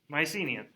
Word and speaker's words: Mycenae: would be a mycenian mycenaean my c knee mycenae that's how you say it okay that is